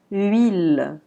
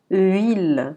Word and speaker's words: huile: La lettre H est généralement muette. Ça veut dire qu'on ne la prononce pas. On l'écrit sans la prononcer. Donc, on va dire huile. Huile. C'est comme s'il y avait juste E-I-L-E. Huile.